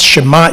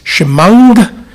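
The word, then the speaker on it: שמע: The ayin letter, that in modern Hebrew is mute, is pronounced as a ng. So when I was taught to say the Shema Israel, it was not Shema Israel, Leolam Vaed. It's Shemang Israel, Adonai Eloheinu, Adonai Echad, Baruch Shem Kevod Malchuto, Lengolam Vanged.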